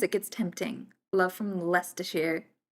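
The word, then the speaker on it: Leicester Square: love from Lester Shear. I love the way that Lester Shear is spelled. It's It's spelled Lifeershar. It's like the Worcester sauce situation.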